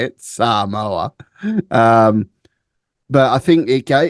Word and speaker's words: Samoa: the American Samoa that's how they say it Samoa um but I think it g really gives